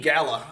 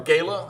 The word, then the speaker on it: Gala: a uh from Panini Gala or Gayla I don't know depends on how you want to pronounce it what part of the country you're from uh this is a